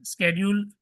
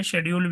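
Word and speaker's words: schedule: स्ेड्यूल भी बोल सकते हैं, शेड्यूल भी बोल सकते हैं आप। ठीक है? अलग-अलग तरीके से प्रोनाउंस किया जाता है।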